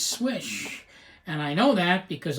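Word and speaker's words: Slysz: swish marcin swish swayback it's not sleazy sleazy or slides it is swish and I know that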